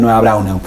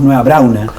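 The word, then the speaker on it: Nueva Braunau: Siempre me llamaba la atención, don Pedro, que todos nosotros le decimos nueva brauna, pero es nueva brauna. Se pronuncia la U. General, generalmente la gente se come la U.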